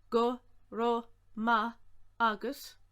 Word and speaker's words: go raibh maith agat: Go ra maith agat, go raibh maith agat, you might hear as well. Go ra ma agat.